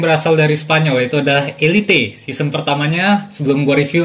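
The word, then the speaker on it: Élite: Karena pengejaan bahasa Spanyol Elite ya, kalau Inggris kan Elite.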